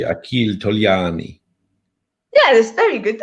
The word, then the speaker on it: Achille Togliani: Can you please pronounce his name properly? Because I would say Achille Togliani. Yeah, that's very good. Achille Togliani. Achille Togliani.